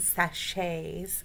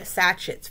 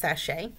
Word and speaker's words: sachet: video on puppets and sashays because i've been calling it satchets for years and i am fully aware i'm fully aware that it's pronounced sashay again i never used